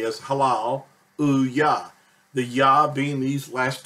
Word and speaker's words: Hallelujah: the phrase h H well most people say hallelujah but it's actually pronounced correctly as Halal UAH the yah being these last two letters and